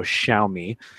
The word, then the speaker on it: Xiaomi: forum she's like an expert on how to pronounce it so Xiaomi so shout out to you tribe apparently they're